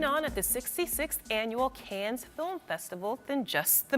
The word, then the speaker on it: Cannes: How is it officially pronounced? I've been told officially it's Cannes.